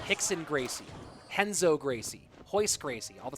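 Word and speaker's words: Renzo Gracie: All the R names, Hixon Gracie, Henzo Gracie, Hoist Gracie, all that start with an R pronounced with the H sound.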